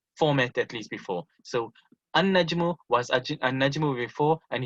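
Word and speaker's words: النجم: a noon, you know, any noon which have alif and lam on it, you won't pronounce the lam, you'll always pronounce the noon, like in the example of an-nasru.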